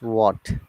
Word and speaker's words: what: It is not what, it is what.